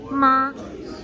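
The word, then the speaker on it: 马: For example, the word for mother is ma. Here is what it looks like. Say ma. Ma.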